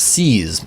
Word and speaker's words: CSS: outside the fable CSS that's pronounced seas my dear boy sees not an acronym not a file path one does not trek